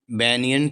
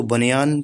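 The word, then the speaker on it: banyan: there was a huge बनियन tree इसको बनियान tree नहीं बोलते हैं बनियन ट्री यह सही उच्चारण है तो नियर पास में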